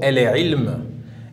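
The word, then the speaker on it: العلم: La lettre suivante, la lettre ayn, comme dans le mot el-ilm.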